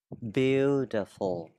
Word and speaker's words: beautiful: Mình sẽ đọc là đây. Beautiful.